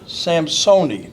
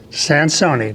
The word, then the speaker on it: Sansoni: My guest is an Air Force career man, retired, Don Samsoni. Did I say it right? Sansoni, that's correct.